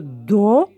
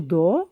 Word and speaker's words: dos: plus comment ça s'écrit on n'entend pas le s mais ici c'est le dos on écrit le dos